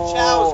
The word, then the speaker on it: Chao: is just ch it's Chow's good sir it is pronounced Chow oh the chws oh